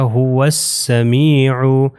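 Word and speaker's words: هو السميع: ہم نے اس کو واو کو ملا دینا ہے یہ سین سے جس کے اوپر شدہ ہے، تو یہ ہو جائے گا هو السمیع۔ اب دیکھیں یہاں پر نہ الف پڑھا جا رہا ہے نہ لام پڑھا جا رہا ہے،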